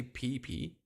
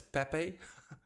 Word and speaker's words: Pepe: for example um VAB how do I pronounce this by the way I say pee but it's Pepe PE sounds like my